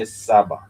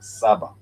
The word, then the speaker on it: saba: And if you go to the next number which is seven, you would say sabah. Sabah s a b a two syllable word again sabah then that would be sab which is I want seven pens.